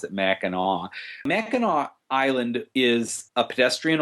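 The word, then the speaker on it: Mackinac: people say oh I'm going to Michigan to MAAC Island it that's the way it's spelled I can't even begin to tell you why we pronounce it maau maau island is a pedestrian only Island you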